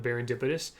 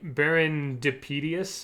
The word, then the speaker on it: Baron Dipitous: i actually remember that he struggled with the pronunciation of barindipidus uh i believe he had said something like baron depidius or something like that i really don't blame